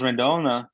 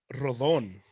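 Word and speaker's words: Rodón: I was doing some research on Carlos Rendon and Rendon. How do you say it? Rondon? Rodon. It's Carlos Rodon. So the N is after the second though.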